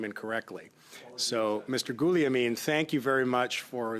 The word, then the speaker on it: Guglielmin: So just before resuming debate here, I wanted to recognize that Guliamin would be the proper pronunciation, and you've brought